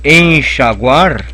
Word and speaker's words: enxaguar: Mas já o verbo enxaguar não leva trema. Por quê? Porque aí é guá, ok?